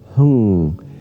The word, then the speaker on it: Hung: going to do is say the sound hung. It's spelled like H-U-N or H-U-N-G. And you're really going to hold that N sound hung for as long as you can.